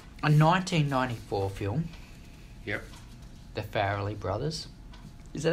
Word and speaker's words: Farrelly: The Farrelly Brothers. Is that how you pronounce their last name?